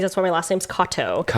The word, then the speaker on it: Katow: But it's spelled Katow, which is why you were like Katow, because obviously that's how it's spelled. But it is similar to the name that's like Kato, common Japanese last name, Katow.